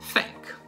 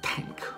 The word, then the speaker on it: thank: Molti, anziché dire thank, dicono tank, che in inglese significherebbe semplicemente un carro armato.